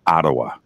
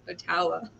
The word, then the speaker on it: Ottawa: time it's okay but it is ottawa ottawa well thank you for correcting me i i've been saying it wrong my whole life and i really was saying oh otawa i don't have any